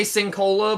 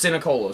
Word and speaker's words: Sinicola: I want to say Sincola, but I know I'm saying it wrong because there's a second I. Yeah. It's Sinicola. So shout out Corey Sinicola, Marcus Pyres.